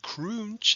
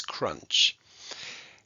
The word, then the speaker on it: crunch: abrev over the u because it's not croonch it's crunch but this time we're